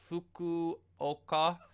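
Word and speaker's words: Fukuoka: it's so bad that I've been pronouncing the name wrong so fuku oka yes Hawks gaming is it that's my team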